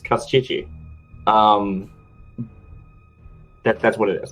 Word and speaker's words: Kostchtchie: I mean, That's we part of could his pronounce it power. correctly, but You whatever. never say his real name. It's Kostchtchie.